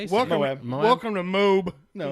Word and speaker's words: Moab: How That's do the the- actual how do the Indian people in pronunciation? They say. Yeah. How do they say? Welcome, Moab. welcome to Moab.